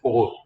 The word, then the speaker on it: ore: ठीक है, इट is pronounced as ओर.